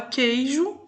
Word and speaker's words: queijo: E a hora que você fala queijo, o U não é pronunciado.